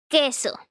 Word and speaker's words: queso: they when this happens the u is not pronounced the u has no pronunciation it's mute is is not pronounced right so we have a couple words here first one is queso queso it means cheese